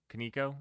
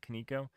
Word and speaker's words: kaniko: or um kaniko kaniko is how I'm going to pronounce it kaniko um which basically kaniko